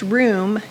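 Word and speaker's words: רום: And that word is pronounced room.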